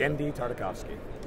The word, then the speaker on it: Tartakovsky: as a 2d animated feature that's how you pronounce his name whoa yeah gen tarkovi gendi tarkovski um and the thing is it just hasn't